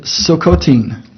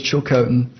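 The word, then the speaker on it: Tsilhqot'in: They pronounce it Silcotin. The white man says Chilcotin.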